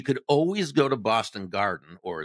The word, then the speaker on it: Garden: But you could always go to Boston Garden or as it's more properly pronounced, the Gaden and and and you could get into a Celtics game with no problem.